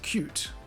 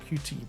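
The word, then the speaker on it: Qt: and you'll see that cute or CT however you want to pronounce it covers the multimedia side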